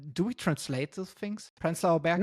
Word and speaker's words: Prenzlauer Berg: Prenzlauer Berg is like the German pronunciation.